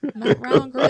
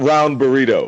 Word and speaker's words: Matt Round Garrido: Matt Round Garrido. That's his name. Matt Round Garrido. What? His name is not Round Burrito.